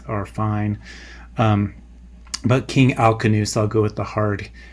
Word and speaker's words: Alcinous: By the way, the K or the S sound on the C, it can go either way, but maybe it more properly should be a K sound. There is a Kentum and Sodom split in European languages that happens later on than this, and so the Romance languages take the C sound or the S sound for a C, and the Germanic languages keep the K sound for them.